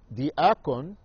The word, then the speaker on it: diakon: Diakon, pronounced as such in Greek, is a Syrian word meaning servant.